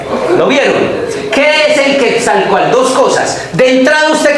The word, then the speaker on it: Quetzalcóatl: ¿Cómo se dice? El Quetzalcóatl. Coal. Coal y Quetzal. Quetzalcóatl.